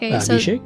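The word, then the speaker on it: अभिषेक: to Lord Shiva so they perform abish shik that's how you say it right that is it yep AB shake so they're so they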